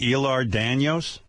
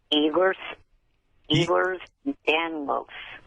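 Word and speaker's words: Ehlers-Danlos: Don't people with HIV live longer than people with El Daniels. It would be nice if you would pronounce it correctly.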